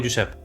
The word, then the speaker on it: Josep: Como por ejemplo, Joan, Jordi, Josep se pronuncia con J como una Y. Por ejemplo, Joan, Jordi o Josep.